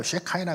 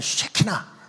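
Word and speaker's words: שכינה: 미국인 강사들이 오면은 뭐 쉐카이나 글로리 뭐 여기 뭐 쉐이나 글로리가 와 있다 하면서 막 얘기를 하잖아요. 어 영어 바음면 쉐카이나라 그러는데 우리는 한국 토종이니까 그냥 쉐키나 그냥 히브리 본통 발음으로 쉐키나라고 부릅니다. 체킨.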